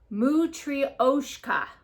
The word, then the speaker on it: matryoshka: These are, let me see if I can pronounce this right. Matryoshka.